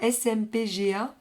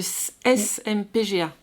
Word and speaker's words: SMPGA: Alors, il y a un dernier sigle qu'on ne peut pas prononcer comme ça, c'est plus difficile. Il faut donner juste les lettres. C'est la SMPGA. Le SMPGA.